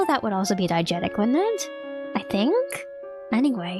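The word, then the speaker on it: diegetic: No, diagetic. Sorry. Diagetic.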